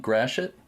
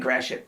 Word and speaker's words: Gratiot: pronounce it, and you tell me how you pronounce it. Is it Point Gratiot? Yes, it is Point Gratiot.